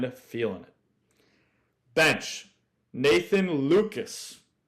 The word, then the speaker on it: Lukes: Bench, Nathan Lukes. Spelled like Lukes, like nukes.